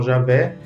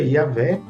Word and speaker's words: Javé: vocalizações né claro que usamos amplamente Jeová em língua portuguesa mas sabemos que outros falam Javé e tem países também que pronuncia yavé Então se a gente respeita